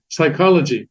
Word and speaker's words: psychology: consonants in English too psychology spelled what does it begin with an S no it begins with a p doesn't it p is silent so also with Korean